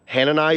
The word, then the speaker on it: Hanani: this is uh Han hanani hanani is how you would say that and you know what